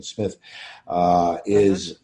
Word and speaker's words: Smythe: Or Sharon Smith, I should say. I believe she pronounces it Sharon Smith, comes on as Sarah Collins, the young sister of Barnabas, starting in episode 255.